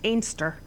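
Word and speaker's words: Anstruther: we chippy and it's it's spelled anther but the way they pronounce it in Scotland is anster so you got to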